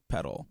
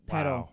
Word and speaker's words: Pedul: Yes, pedal. Yes, pedal spelled P-E-D-U-L. And why do we spell it like that, Chiza?